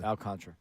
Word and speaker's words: Alcantara: Alcantara. Alcantra. Alcantara. How do you pronounce it? Alcantra.